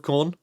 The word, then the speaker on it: Khorne: So we have the Horn of Khorne. It rhymes, so...